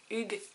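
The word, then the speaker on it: hygge: on a le livre du hughes qui se prononce bien comme ça mieux vivre la méthode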